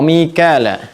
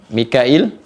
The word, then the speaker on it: Mikail: Wa Mikala Mikail Mikail Michael di sana menyebutnya atau Michel juga ya. Mikail ini di riwayatnya ee Warsy dibacanya Mikail ya. Di Hafz dibacanya Mikal ya.